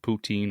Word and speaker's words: poutine: listening and doesn't know, the old poutine or poutin, depending on how you say it, is uh fries, brown gravy, and cheese curd.